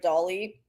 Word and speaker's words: Doughly: were to see the way I wrote write Dolly it's spelled doly but I like Dolly because it's